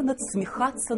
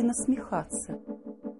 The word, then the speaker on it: насмехаться: Как некрасиво надсмехаться над людьми. Или насмехаться. Подумайте. Если над кем-то, значит надсмехаться. А что, если под? Подсмехаться? Нет, наверное. Нужно говорить правильно. Насмехаться. Без буквы «Д».